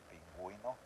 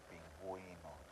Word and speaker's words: pingüino: Same thing for the word penguin, pingüino, pinguino. So you're pronouncing the U.